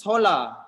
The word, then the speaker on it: hola: sounds the same but in spanish it's holla and in portuguese it's ola